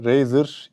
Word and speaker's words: Razr: şurasında razer yazıyor olsun yok ama razer diye okunuyor şöyle bunun içinde kablosu